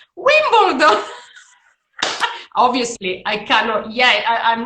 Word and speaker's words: Wimbledon: Now, the Italians, you know how they pronounce that. They pronounce that Wimbledon. Wimbledon. And, at the beginning, I was like, and I could, and I would say Wimbledon. And then, after many years, finally, I heard, what? What? Wimbledon.